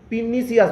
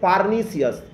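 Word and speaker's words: pernicious: আর এটা পিনিসিয়াস নয়, এটা হচ্ছে পার্নিসিয়াস।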